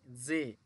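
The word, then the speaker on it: 저: একইভাবে জিউতের জ সাথে হচ্ছে এ, যে।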